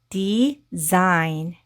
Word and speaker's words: design: 그래서 이렇게 앞에 이런 덩어리 혈자가 붙을 때이 진동이 없는 소리가 진동이 있는 소리로 변하는 경향이 있어요. 그래서이 단어는이 아니고 design이 되고요.